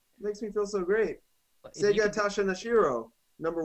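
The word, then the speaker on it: Sugata Sanshiro: Sega Tasha Nashiro, number 1. Oh, Sagata Sanshiro.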